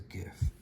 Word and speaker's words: GIF: And then let's do it again and save it as a GIF. I know some people say GIF, but it's grouped image format, so that's a hard G last time I checked.